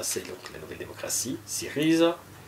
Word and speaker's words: Syriza: La Nea Dimokratia, ça c'est donc la nouvelle démocratie, Syriza, Riza, il faut marquer le R, la Rissi, donc dorée, Afri, voilà, Laos, etc., etc., etc.